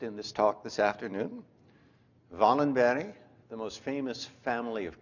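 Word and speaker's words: Wallenberg: is for you Steve in Swedish w is pronounced as V thus venogram the protagonist in this talk this afternoon Valen berry the most famous family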